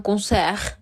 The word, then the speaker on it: concert: Sin embargo, al final les pongo un sustantivo, que es un concert. Aquí sonará la R, pero no la T.